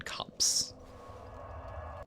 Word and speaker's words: copse: But we're going to go into the Huntsman Copse. Copse? Is that how it's pronounced? If anyone knows how to pronounce C-O-P-S-E, like corpse, but with no R, let me know.